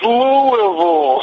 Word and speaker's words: Louisville: laughing and I tell you what anytime somebody mispronounces Louisville it's just my favorite line for that movie I'm always like it's Louisville yeah we all do that don't we I